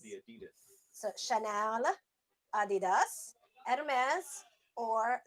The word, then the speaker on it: Adidas: It's German, and that's how you say it. It's Adidas. It's Adidas. Adidas. Yes, it's not Adidas, Adidas. or- Like us Americans call it Adidas. No, it is not Adidas. Adidas. It is Adidas.